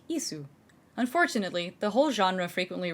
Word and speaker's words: ISU: Assault guns using the chassis of the Joseph Stalin heavy tank are called ISU, pronounced like ISU.